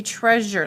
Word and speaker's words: treasure: is going to be treasure let's please spell that word t-r-e-a-s-u-r-e say the word treasure so it sounds like a z in there treasure so let's write